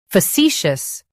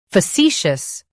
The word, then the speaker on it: facetious: Today we will learn how to pronounce the word shown on the screen. Facetious. Both US and UK have the same pronunciation of this word. Facetious.